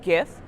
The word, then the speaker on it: GIF: the funny and relevant gifts and I use a hard G to fight me about it if you want but